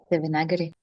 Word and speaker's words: Devanagari: don't have here, but the A after the N is long, Devana, and then the I at the end is long. So it's Devanagari. Say with me. Devanagari.